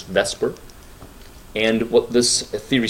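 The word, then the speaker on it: VSEPR: this is something called the Vesper theory let's pronounce Vesper and what this theory says actually the acronym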